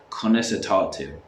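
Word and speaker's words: Conas atá tú: So you would say, Dia gwit, conas atatu.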